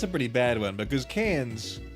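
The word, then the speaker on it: Cairns: I heard a YouTuber pronounce cans as Karens.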